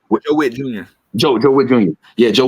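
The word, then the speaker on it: Joe Whitt Jr.: Joe Witt Jr.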